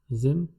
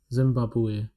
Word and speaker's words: Zimbabwe: In French, it is written as the same manner as it is written in English, but the pronunciation is different. Zimbabwe. This is the pronunciation. Zimbabwe.